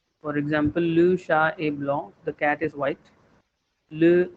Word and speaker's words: blanc: example, the word for white is blanc. C is silent at the end. For example, le chat est blanc.